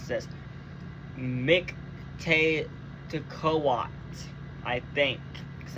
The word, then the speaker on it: Mictlantecuhtli: Mictlantecuhtli, I think, because I'm pretty sure you're not supposed to pronounce the L at the end of it.